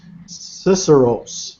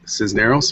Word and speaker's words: Cisneros: And also we've got Vidal, and I think his last name is pronounced Cisneros. Vidal, are you there? Yes, I am, and it's actually pronounced Cisneros, but that's okay.